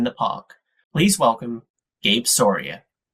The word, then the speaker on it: Soria: Please welcome Gabe Sora. Uh well, uh thank you for having me and thank you for pronouncing my last name correctly.